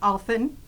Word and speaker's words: Allphin: And Allphin, rhymes with dolphin.